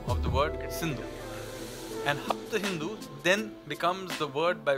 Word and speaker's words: Hapta Hindu: Sapta Sindhu in there, except they changed the pronunciation to Hapta Hindu. And that is the word where Hindu comes. It is a mispronunciation of the word Sindhu. And Hapta Hindu then becomes the word